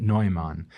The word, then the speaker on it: Neumann: I'll mention first, I've heard his name pronounced in different ways. Mm-hmm. His last name is spelt, for anyone who's just listening, Neumann, which to me, from the little bit of time I spent in Germany, makes me so want to pronounce it Neumann, which some people do. I think is correct. Which is probably correct, but most people will hear Neumann, and yes.